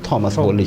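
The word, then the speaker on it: Thomas: हैं टॉमस nest साहब आप टॉमस बोल लीजिए थॉमस स्पेलिंग में तो एच आता है फस थॉमस भी होता है 187 में कार्टूनिस्ट थे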